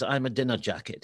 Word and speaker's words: Ahmadinejad: sargent used to say when uh ahmadinejad came in it was i'm a dinner jacket and he said if you remember that you get it right well now we've got